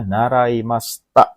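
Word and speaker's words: 習いました: Itu bacanya naraimashita, minasan.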